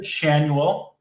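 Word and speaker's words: Schanuel: I think you managed to mispronounce 4 names in the Angels lineup in one fell swoop there. So Nolan Shanuel.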